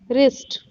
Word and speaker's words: wrist: Now look W are silent letters like wrist. Here the W is silent.